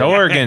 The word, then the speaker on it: Oregon: Oregon, like the kind you play.